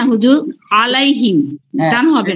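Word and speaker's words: عليهم: টানতেছেন এখানে কয় আলিফ টান দিচ্ছি না হুজুর আলাইহিম টান হবে না টান হবে না কিন্তু হয়ে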